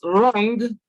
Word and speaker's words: wrong: Then option B is wrong. W is silent. Each time it occurs before R, it is silent.